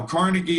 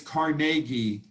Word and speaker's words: Carnegie: that these instructions came from andrew carnegie now carnegie is the way we say it in the united states carnegie is the way it's actually pronounced but you